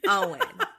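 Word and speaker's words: Eoin: It's her boyfriend, Owen, spelled Eon, but pronounced Owen.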